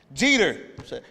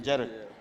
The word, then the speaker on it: Jeter: Did I say it wrong? Jeter. That sounds a lot better than Jeder.